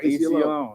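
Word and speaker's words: Aceyalone: So AC Alone.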